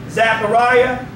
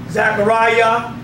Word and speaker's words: Zachariah: still hear it Isaiah Zachariah so whenever you see the I a at the end of a name it always pronounced as the yah Jeremiah Zachariah Obadiah Saints